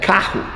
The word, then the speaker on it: carro: Double R between vowels sounds like H.